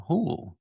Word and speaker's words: Houle: I'm your host, James Carman, and today we have with us Carol Houle. Did I pronounce that right? Houle? You did. Like cool? Like cool or pool, yes.